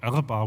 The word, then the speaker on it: Erba: This story took place in Erba, Italy, northern Italy, and in 2006 the so-called Erba, or Erba would be the Italian pronunciation, the Erba massacre took place.